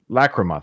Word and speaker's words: Lachryma: I don't know how to pronounce it. Lachryma? Lachryma, thank you.